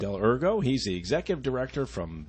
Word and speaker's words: Dell'Ergo: And I also have Brian Dell'Ergo. Did I say it right? You sure did. Yep. Dell'Ergo.